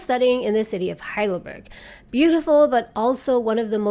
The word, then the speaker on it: Heidelberg: I wish I could rent a pretty apartment in the old town of Heidelberg, or Heidelberg, which is the German pronunciation, where I could just walk 2 minutes to the lecture hall in the mornings.